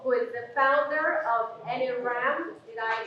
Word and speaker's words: NRAM: So today, we have Marline Paul, who is the founder of NRAM. Did I pronounce that correctly?